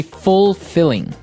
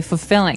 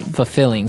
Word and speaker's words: fulfilling: pronunciation you don't say fulfilling no you say fulfilling fulfilling so the L there is kind of Silent kind of optional but um maybe you